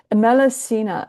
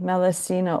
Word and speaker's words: Melusine: Melusine, Melusine. Can you type that in, Judy? MEL. Melusine, Melusina, or Melusine. Sometimes you pronounce it that's it, as in a French pronunciation.